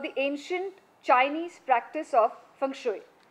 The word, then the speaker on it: Feng Shui: These particular ducks played a starring role in a common misconception about the ancient Chinese practice of Feng Shui, pronounced Feng Shui.